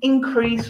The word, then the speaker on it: increase: or something decreased okay the second syllable when we're using it as a verb the same rule okay i don't expect